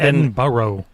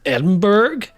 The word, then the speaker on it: Edinburgh: know and they'll go, "Edinburgh?" But it's not It's It's sort of like It's sort of like Worcester.